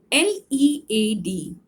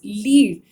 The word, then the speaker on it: lead: LEAD. If it rhymes with bead, then it means lead. The pronunciation, if it is pronounced as lead, then the meaning is to show, leader, leadership, to show.